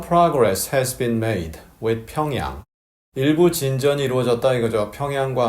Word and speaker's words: 평양: 그리고 평양 이렇게 발음하는 분들이 계세요. 영미인들이 그렇게 하는데요. 우리는 굳이 그렇게 할 이유는 없겠죠. 그냥 평양 이렇게 하면 됩니다.